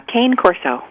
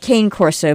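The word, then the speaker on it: Cane Corso: I have an eight-year-old is it Cana Corso uh Kane Corso Kane Corso huh well that's how I've heard it pronounced is it Italian I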